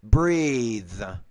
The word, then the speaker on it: breathe: But when you have the TH here, the voiced TH, this is the interdental voice consonant, you have to pronounce this longer. So then we say breath, breathe, teeth, teeth.